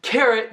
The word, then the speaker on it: carrot: Carrot não está pronunciado carrot, alguma coisa assim, falando o nome da vogal dentro da palavra, porque tem dupla R aqui.